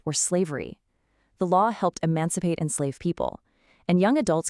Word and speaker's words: emancipate: Look at these hidden relatives, emancipate and emancipation. Emancipate is pronounced e-mancipate.